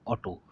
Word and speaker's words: Otto: This is नॉट ऑटो, AUTO, spelling क्या है OTTO, ऑटो।